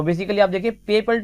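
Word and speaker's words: PayPal: फिर master card, फिर पेपैल या फिर गूगल पे। सो यहाँ पर आपके ऑप्शन होंगे पेपैल, काफी लोग इसको पेपाल बोलते हैं बच्चों, पेपैल इसका करेक्ट प्रोनाउंसिएशन होता है।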